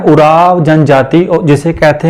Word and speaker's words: उरांव: भी वर्णित करता है अंग्रेजी में ओ अक्षर से लिखे जाने के कारण इस समूह के नाम का उच्चारण उराव लिख किया जाता है झारखंड छत्तीसगढ़ में उराव